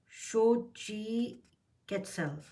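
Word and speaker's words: Xochiquetzal: front of you and it says this is pronounced as Shi catell SOI catell is the atic goddess of fertility and household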